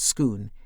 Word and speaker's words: Scone: had kept it at Scone Abbey. Scone, which is spelt like the baked afternoon tea delicacy, but pronounced Scone, is a block of